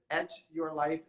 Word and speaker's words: Etch Your Life: Do you pronounce it Etch Your Life and Draw or Sketch? Absolutely, yes.